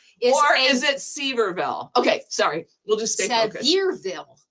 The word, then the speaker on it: Sevierville: from the Cherry Pit Shop in Sevirville. No, it's not. It's Severville. Severville. Okay, there you go. Or I'll leave I'll leave out the I Seville. Or is it Severville?